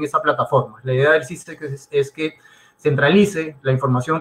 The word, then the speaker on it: SIICEX: Ahí yo les recomiendo siempre consultar el portal SISEX, que se escribe SIICEX, que son siglas de Sistema Integrado de Información de Comercio Exterior.